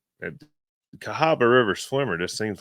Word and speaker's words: Cahaba: Is that how you pronounce that? Cahaba? That is Cahaba.